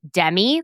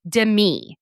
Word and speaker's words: Demi: I pronounced her name Demi, like Demi Lovato. Mm-hmm. Apparently, you're supposed to say it like Demi, like Demetria. So huge. Apparently, there's a huge difference.